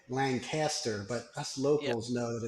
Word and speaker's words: Lancaster: Lancaster County or is it Lancaster I always pronounce it wrong no it's it's Lancaster but most people say Lancaster but us locals know that it's Lancaster yeah